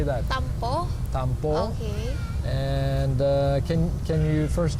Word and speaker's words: tampo: Tampo.